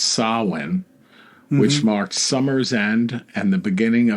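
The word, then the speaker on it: Samhain: Celtic Pagan Festival of it looks like Sam Hayne but it's pronounced sawin which marked Summer's end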